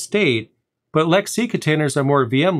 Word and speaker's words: LXC: or lxc for short lxc containers are actually pronounced lexi in the industry and i know that's weird don't hate me for that i'm just the messenger here lexi is just how it's